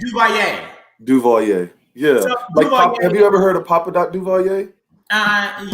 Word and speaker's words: Duvalier: It's Duvalier.